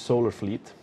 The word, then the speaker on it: Solar Fleet: uh choke point versus solar Fleet and I respect the team so I'm pronouncing it correctly a lot of people think it's a silent L but I'm not I'm not in for that so choke point have